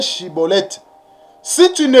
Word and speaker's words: Schibboleth: bien prononcer le mot Shiboleth. Mais par contre, des Éphraïmites, ils avaient des difficultés pour prononcer le mot Shiboleth. Et ils prononçaient Siboleth.